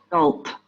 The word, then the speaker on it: adult: The stress is in the British English is at the beginning, and in American English is at the end.